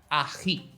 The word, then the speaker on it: ají: So, do you know the word loch as in lake for Scottish? Well, try that sound, loch, ají.